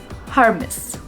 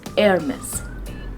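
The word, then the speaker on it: Hermès: is harmis hermes now the correct pronunciation of this word is you will be little shocked about this actually and it is hermes hermes the sound of h is gonna be silent in this word we are not going to pronounce h sound it is air miss air miss hermes is actually a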